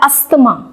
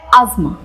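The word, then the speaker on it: asthma: Next है एक disease का नाम, और हम इसको बोलते हैं अस्थमा। पर क्या रियली में ये अस्थमा की तरह प्रोनाउंस होता है? इसका करेक्ट प्रोनाउंसिएशन होता है अज़मा, अज़मा, अज़मा।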